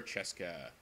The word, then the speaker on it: Cesca: I will call her Cheska. And Francesca was spelt with C-E-S-C-A as her name. My name is Cesca. Cheska.